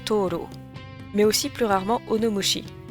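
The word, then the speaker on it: とうろう: Bien qu'une autre lecture avec des kanjis différents se prononce Toro, mais aussi plus rarement onomoshi.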